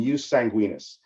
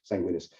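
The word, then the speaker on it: jus sanguinis: principles use soli and use sanguinus and that's spelled Jus and then s oi and use Jus and then sanguinus uh s n guu i n i s sanguinus so you solai uh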